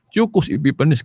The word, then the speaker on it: Antiochus Epiphanes: O sa ang pag-pronounce ana gyud sa katong sa in English, Antiocho Epiphanes. Antiochus basa ana, Antiochus Epiphanes kato siya.